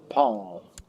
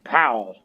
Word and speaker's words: Paul: The King of Norway, King Paul. Not King Powell.